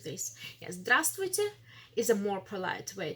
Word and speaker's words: здравствуйте: we do not pronounce this vstv. We pronounce it stv.